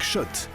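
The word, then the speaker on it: Schott: gagner sur RMC avec Shot la marque iconique new yorkaaiseaise depuis 1913 oui Shot et pas Scott ça fait des années qu'on prononce mal la marque.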